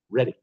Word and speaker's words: Reading: Reading. It's pronounced Reading.